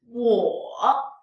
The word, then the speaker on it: 我: In daily conversation, we can shorten the sound and only pronounce the lowest point of the third tone.